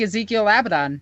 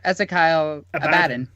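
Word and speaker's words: Ezekyle Abaddon: pronounce it that way it's like Ezekiel abidon where it's actually ezekyle abadin yeah ezekyle yeah the phonetic translation the phonetic pronunciation and the GW pronunciation do not match up very often no okay what 40K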